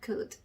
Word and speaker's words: could: 그 다음에 L 밑에는 리을자를 너무너무 적고 싶은데 L이 뒤쪽에 봤더니 D가 있다. D 때문에 L은 묵음이다. 그래서 L 밑에는 아무 소리도 적어주시면 안 되고 D 밑에 디귿자 적어주시면 되겠습니다. 조합을 해보면 could 이렇게 되겠죠?